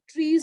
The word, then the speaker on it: trie: So a modified version of trees is also there, which is called as, it's again pronounced as tree, but it's written as TRIE.